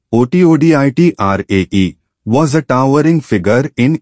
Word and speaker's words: Satyajit: Satyajit Ray, pronounced ˈʃotːodʒit, was a towering figure in Indian cinema, a maestro whose influence transcended borders.